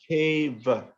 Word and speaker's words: cheva: Cha, ava, cheva. Just put the cha, ava, just say it together. Cheva.